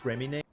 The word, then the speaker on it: Fréminet: In English, most people will pronounce it Fréminet, but the real name is Fréminet.